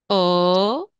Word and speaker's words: ho: Ok Allora io ho si pronuncia o però la h questo qua non si pronuncia non si pronuncia mai